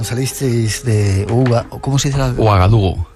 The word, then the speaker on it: Ouagadougou: Ouagadougou. Ouagadougou.